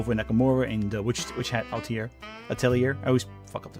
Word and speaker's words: Atelier: And, Atelier. Oh, there we go, thank you. At 000 Agent 88 super chatted $2. It's pronounced Atelier.